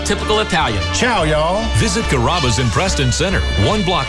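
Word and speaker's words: Carrabba's: People chop it up pretty good. You know, Kuraba, Kamaba, Kamba. It's a really easy name to pronounce. It's Kaba.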